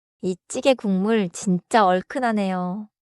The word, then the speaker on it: 국물: One pronounciation note. 국물 is written 국물. But in natural speech, it sounds like 군물. So 국물로 sounds like 국물로.